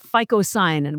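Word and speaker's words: phycocyanin: But the main one is a blue one called ficoyan which is spelled with a phy. It's ph y c o c a n i n. Most people have probably never heard of ficoyanin, but when I finish, you're gonna want to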